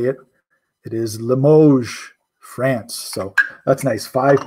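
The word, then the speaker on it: Limoges: I know how to say it it is Limoge France so that's nice five pieces of Limoge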